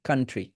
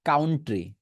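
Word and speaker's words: country: কানের পাশে হয়ে যাবে কানের পাশে ট্রি লাগিয়ে দেন কান্ট্রি শেষ আর চেঞ্জ নাই my favourite কান্ট্রি I live in এ কান্ট্রি কান্ট্রি নট কাউন্ট ট্রি okay কান্ট্রি okay next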